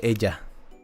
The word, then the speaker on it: ella: My bad, ella. Sorry, I got the Spanglish mixed up. Ella. Because double L is pronounced with a hard J.